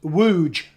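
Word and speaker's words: Łódź: john from togg and taj is pronounced wooj it says that's what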